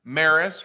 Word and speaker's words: Maris: The Launching Life's Journeys podcast is going to be in partner on a special camping series with MARVAC, starring Maris, rhymes with Paris.